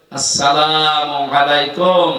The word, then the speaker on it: আসসালামু আলাইকুম: শান্তির সাথে প্রবেশ করেন এ শব্দটাকে যারা এখনো পর্যন্ত উচ্চারণ শেখেননি তাদের কপাল নষ্ট হওয়া না আজকে থেকে ঠিক করে নিবেন আসসালামু আলাইকুম আদম থেকে শুরু করে